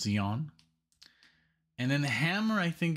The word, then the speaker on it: Jan: I always want to say, of course, Jan, but it's he is, you know, European, and so it's Jan.